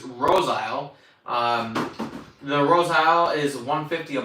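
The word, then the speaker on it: Roseisle: Sugar 80 says the pronunciation of that last one is Rose Isle.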